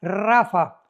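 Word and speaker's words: Rapha: tu Biblia la palabra Rafa. R de Raúl ha de Armando, P de Pedro. H intermedia de Armando, rapa, pero se pronuncia en el hebreo rafa.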